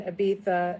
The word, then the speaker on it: Ibiza: And so it's interesting on that Ibiza discussion because when I was, by the way, Ibiza is just how it's pronounced there.